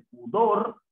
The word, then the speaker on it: pudor: Por ejemplo, en pudor, la mayor fuerza de voz la tiene la sílaba dor.